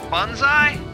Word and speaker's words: bonsai: How'd you pronounce that? Bonsai? Like bun? Yeah, like I call it a bonsai. Was it a bonsai? Well, I'm just going to recognize the O in the beginning. Sorry, yeah. Sorry, bonsai. You don't have the right to make that a U.